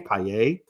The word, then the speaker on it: Paillet: I learned that's how you actually say his name, Paillet.